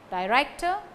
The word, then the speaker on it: director: Write, director, lodge, complaint. Complaint, stress falls on plaint. So, write, director, stress falls on rector.